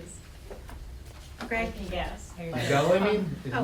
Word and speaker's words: Newsella: I'm just curious what Newslia is. Greg? Yes. Newsella, I mean? Oh. It's spelled Newsella, Newsella?